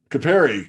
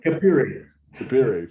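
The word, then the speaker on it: Capire: that's one i didn't want to overlook so capari capari i'm not saying it right will you pronounce it correctly and tell us about it please kabiri thank you yeah yeah yeah kapiri is a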